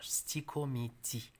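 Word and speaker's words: stichomythie: Prononcez-le bien. C'est pas sticho, c'est l'asticomiti. C'est un sticomiti.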